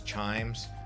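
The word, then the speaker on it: CHIJMES: Also a very famous colonial area known as Chimes. It's got a J in the middle, so take note of that when you're trying to pronounce it.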